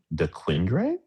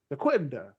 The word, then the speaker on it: Dequindre: And they go, Dequindre? I don't know. Figure it out. Like, guys, it's French. It's a French city. Come on. You know this. Dequindre.